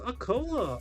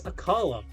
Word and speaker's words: Akala: And that is the uh kahuna of Aola. Akala. Aa. I'd love an AA right now. I would love Ola right now. But it's Akala.